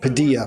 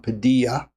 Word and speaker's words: Padilla: right, Padilla, by the way, I said his name wrong. Padilla, not Padilla, Padilla. So I'll get it right going forward.